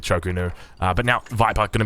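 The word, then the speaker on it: Chu Ko Nu: Now, with the pronunciation of that word, obviously, it's spelled a little bit different in AoE 4 than AoE 3, which is where I'm from. So, yeah, we normally just go with Chokunu.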